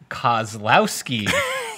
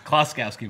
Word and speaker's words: Kloskowski: I wonder if Kozlowski, Kozlowski can enter. Is that with a Y in the end or an I? You know, that's the most common mispronunciation of my name. It's Kloskowski, but I think it's important